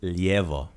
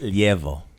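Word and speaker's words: lijevo: say it did though left is Leo Leo I also heard Leo that's that's a shorter way of saying it right so Leo is proper Leo is the quick maybe dation cheaters way and I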